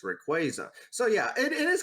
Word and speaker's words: Rayquaza: I mean I mean yeah like I said um I would normally say Rayquaza when I when it was introduced and now I had been corrected to it's Rayquaza.